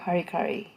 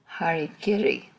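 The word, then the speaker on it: hara-kiri: live ah apoptosis cellular harikari harikiri excuse me mispronounced it if you've ever had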